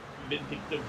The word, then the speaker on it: indicative: Hopefully that's not indicative of where we stand there. Or indicative. Indicative. Yes. You had the emphasis on the wrong syllable.